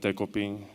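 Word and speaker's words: Decopin: So his name is Dekoping. That's a Japanese name, and I figured it'll be hard for American people to pronounce it.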